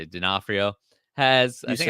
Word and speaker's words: D'Onofrio: In an interview with Popverse, Kingpin actor Vincent, I don't know how to say it, D'Onofrio has.